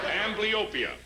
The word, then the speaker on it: amblyopia: May I have the correct pronunciation? Amblyopia.